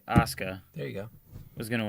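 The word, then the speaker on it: Asuka: you knew frigging I'll say her name correctly Aska there you go who's gonna win no we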